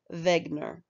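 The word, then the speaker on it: Wegener: with a man named alfred wegner who is german which is why we say his name like that and alfred had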